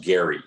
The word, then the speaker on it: Gerry: I was actually pronounced Gary, and he drew boundaries that would make some congressional districts more Republican and others more Democrat.